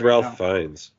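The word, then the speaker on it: Ralph Fiennes: Dave said it oh that's how his name is spelled yes that is how his name is it's spelled Ralph find so I always say Ralph but yeah um it's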